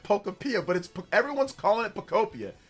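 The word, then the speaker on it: Pokopia: It's not Pokapia. It's Pocopia.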